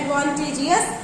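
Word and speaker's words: advantageous: एडवांटेज, भले ही उसका pronunciation नहीं होगा, उसको प्रोनाउंस नहीं किया जाएगा। एडवांटेज plus O यू एस, एडवांटेज कहते हैं, एडवांटेजियस मतलब लाभदायक।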